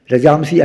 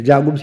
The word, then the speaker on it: Rajamsi: Rajamsi actually. Rajagumsi is a Vedic pronunciation.